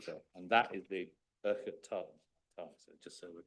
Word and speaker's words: Urquhart: Oh, right, It's not Urquhart. There's no Q involved, although it's in there. It's Urquhart. Urquhart, Urquhart. Yeah. An Englishman's pronunciation is Urquhart. Urquhart. Yeah. Mr. Scotsman. Fraser Urquhart. Scotsman says Urquhart, but there we are.